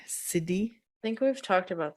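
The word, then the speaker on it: siddhi: and the cidy frequency now cidi is spelled s i ddh it's a Sanskrit word cidy I think we've talked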